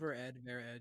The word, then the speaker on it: Ver.Ed: Ver.Ed, yeah.